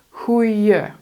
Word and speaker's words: goeie: Well, replace the D sound, for instance, goedemorgen, goedemorgen. Replace it with the J sound. You spell it with an I, with an I in het Nederlands. Maar je zegt een J. Goeie. So instead of goede, it's goeie.